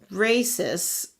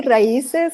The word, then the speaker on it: Raíces: This is how you tip, and we'll split them after we give 10% to Races. Is that how you pronounce it, Juliet? I would say raíces because it's like roots.